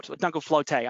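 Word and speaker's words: Dunkelflaute: a phenomenon known as jungle floor dungal flotay i think is how we pronounce it uh it's a german word and what it translates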